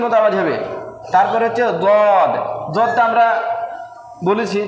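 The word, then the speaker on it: ض: দদ শুনতে কিছুটা ডালের মতো লাগবে, কিন্তু ডালের মতো উচ্চারণ সম্পূর্ণ হবে না, হবে দদ।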